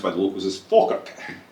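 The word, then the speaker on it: Falkirk: I'm from a hometown my hometown's called Falerk F I R Kirk there is church. So German yeah but it's pronounced by the locals as Ferk. Drop the L.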